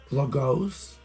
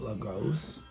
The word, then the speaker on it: Lagos: on july 15 and it's logos i think that's how you say it lagos nigeria it's regarding my